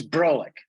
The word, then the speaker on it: Broulik: you pronounce Broulik, right? It's Broulik. Broulik. It's Broulik. Yep.